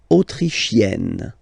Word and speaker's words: autrichienne: L'Autriche, autrichien, autrichienne. So same thing here. You get E and then double N, you open the E.